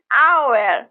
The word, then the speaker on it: hour: Like in hour, where the H is silent. The first sound in hour is a vowel sound, so we say an hour.